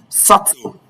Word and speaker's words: subtle: The B in all of these words are not pronounced.